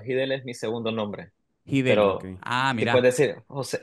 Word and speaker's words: Giddel: Quiero saber cómo se pronuncia tu, mi querido José, cómo se pronuncia tu apellido, el Hidel. Mira, mira, mi nombre es José Hidel. Hidel es mi segundo nombre. Hidel.